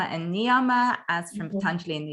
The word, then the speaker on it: Niyama: our Sanskrit pronunciation, and the S I put on sometimes is actually only an English version of it. So Yama and Niyama, the plural is the same.